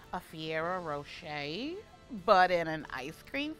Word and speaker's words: Ferrero Rocher: So it's a Ferrero Rocher, not a Fiero Rocher.